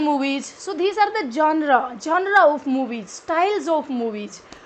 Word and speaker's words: genre: The first one इज द genre. genre, don't pronounce it as genre. this is not genre, it's genre.